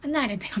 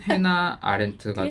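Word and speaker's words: Hannah Arendt: 그게 익숙하고 독일어식으로 발음하면 한나트가 많거든요. 아 미국 식으로 하면 해나 아렌트가 들고 익숙하지 않아서 그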